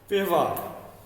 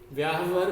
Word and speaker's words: व्यवहार: व्यवहार, व्यवहार शब्द होता है, व का उच्चारण कम होना चाहिए। व्यवहार, शुद्ध उच्चारण क्या है? व्यवहार। तो हमने देखा ये क्या हो गया? व्यवहार। ये हो गया व्यावहार, व्याहवर भी गलत है, व्यवहार ये सही है, व्यवहार।